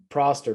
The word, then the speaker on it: Prost: alain prost and proster prost i can't even remember how to say it so it's fine i think it's prost i think it's that's how the british always say it on podcasts to listen to prost so um